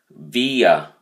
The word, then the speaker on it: via: Via. 2 syllables. The emphasis is on the first syllable, so you say via.